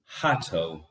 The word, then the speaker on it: Hahto: I've been pronouncing it wrong and my apologies. I assume now I can say it. Hahto.